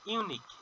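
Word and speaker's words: unique: This ইউনিক। যেহেতু ইউনিক আছে এখানে ইউ এর মতন উচ্চারণ হচ্ছে। এই কারণে এখানে এন না বসে কি বসবে? এ বসবে।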